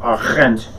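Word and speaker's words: Arendt: is on totalitarianism by hannah achent it's how you pronounce the name that's what i found out and this book was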